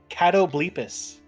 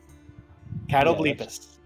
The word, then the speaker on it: Catoblepus: Let's hear what they say, how they pronounce it, because I want to make sure I pronounce it right. Every single time I'm looking at it, I'm like, I don't know how to pronounce this. Yeah. Oh, it's Catoblepus. I guess is how you pronounce it.